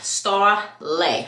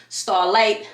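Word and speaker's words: Starleigh: my name is pronounced star L like you lay down it is spelled l e i g h yes but it is pronounced as if it's spelled l a y that is how you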